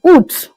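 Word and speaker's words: août: August in French is oot. A o u with the accent at the top of the u then toot. That means August.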